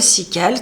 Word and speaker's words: CIQUAL: La table SICAL, donc ça s'écrit CIQUAL, ça va être une table de composition nutritionnelle des aliments.